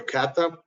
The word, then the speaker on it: KATA: solution from kasperski and it's called Kat Kata or Kata because how it's spelled also the EDR expert